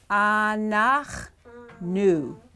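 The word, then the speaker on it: אנחנו: And that is pronounced, got a little hatef patach there. And patach, shva, and vav-u, shurek. All right, ready? Anach, nu. Anach, nu. Okay? Okay, you see how that's pronounced? Anach, nu. Okay, see with the shva that ends that syllable.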